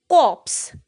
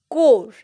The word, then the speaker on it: corps: In our day-to-day life, most of us speak this word as corps, CORPS, which is not right. इसका सही pronunciation है core, CORE, core.